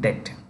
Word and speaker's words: debt: Lanka for its debt the bee is silent in debt debt restriction with the